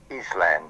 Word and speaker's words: island: from that you get island or Ireland now why isn't the S pronounced in the word why is it even